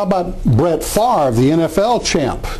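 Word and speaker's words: Favre: names how about Brett farre the NFL champ you pronounce it with the r on the left side of the V but it's actually written with the r on the right side of the V and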